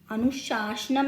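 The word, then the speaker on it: अनुशासनम्: प्रस्तुत है अनुशासनम, अनुशासनम नहीं अनुशासनम। ये श है और ये स है।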